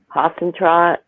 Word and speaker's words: Huisentruit: Huisentruit.